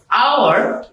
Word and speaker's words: hour: যেমন wait for এন আওয়ার, আওয়ার The word hour starts with letter H. কিন্তু এর উচ্চারণ হওয়ার মতো হয়েছে তাই এন বসেছে হি ইজ এন হেয়ার